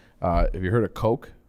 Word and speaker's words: Koch: republican parties okay so the coach that's how it's pronounced co i'm sorry k o c h koch it's not cautious it's not billy gosh it's coke and then blackstone and